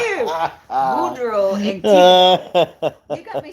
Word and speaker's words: Boudreaux: Boudreaux and Tip. You got me sounding like you. Say it like this. Boudreaux. Boudreaux. Boudreaux. Boudreaux. Boudreaux Boudreaux. and Thibodeau.